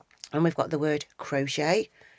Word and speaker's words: crochet: And here we've got the word crochet. We've got picot, which is a crochet term. These have both got a silent T on the end.